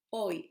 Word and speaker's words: hoy: Hace, silent letter. Hoy, silent letter.